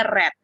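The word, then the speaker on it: read: yang ini tulisannya sama Tapi bacanya beda satu bacanya Rich kalau ini bacanya red Iya nah waktu yang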